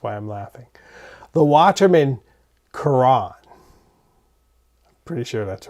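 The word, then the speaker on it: Caran: call it the Karen I used to call it the kin but I believe it's Kuran my wife speaks French and I she tells me it and it goes you guys know my pronunciation is idiosyncratic to begin with so we're going with kurran tonight and um I see that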